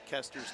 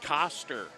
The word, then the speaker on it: Kester: pointed his finger at Kester's name. And he said, "How do you pronounce that name?" And I said, "Koster." He said, "Nope, it's Kester."